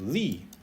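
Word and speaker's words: 力: And this character is pronounced li.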